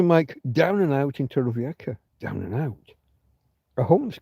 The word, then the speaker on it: Torrevieja: Torrevieja, if you're going to say it properly.